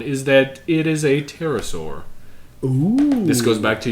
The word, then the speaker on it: pterosaur: that it is a pterosaur. Ooh. This goes back to your raptor. I'm really pleased that you did not pronounce the P like I would have.